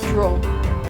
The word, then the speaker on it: Drau: So the word Drau comes from the German, which I think is more pronounced Drau. I apologise to anyone who is German if that is not how it's pronounced.